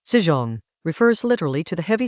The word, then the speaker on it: 輜重: The word Chinese letter, zīzhòng, refers literally to the heavy supply carts that a military force drags with it.